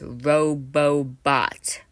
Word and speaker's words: Robbot: Yes, it's pronounced Roobot for easy just so you understand how to pronounce it better.